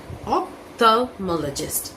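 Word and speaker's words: ophthalmologist: इन्हें कहा जाता है ऑप्थल्मोलॉजिस्ट, ऑप्थल्मोलॉजिस्ट, ऑप्थल्मोलॉजिस्ट। ये मोल एल जो है वो साइलेंट है।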